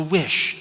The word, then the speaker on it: WHS: This talk is going to follow a very specific method, the WHS method, which I pronounce as the WISH method.